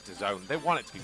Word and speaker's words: DAZN: a i don't know you say it like the zone or dazzling or whatever it is like yeah i think it's the zone they want it to